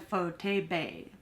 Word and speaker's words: Pho Tau Bay: I love their phone I think it's called pho Tabo but then some people pronounce it as photo bay photo B but you